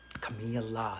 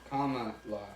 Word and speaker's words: Kamala: Camilla. Camilla. Versus Kamala. Oh, okay. I'm not going to... Kamala. That's right. Kamala. Duh. Sorry. I was just really trying to read it phonetically today. It's Kamala.